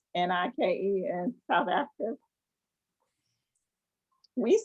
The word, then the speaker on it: Nike: The brand itself says that this is how you pronounce our brand, so that's how we should pronounce it. It's Nike.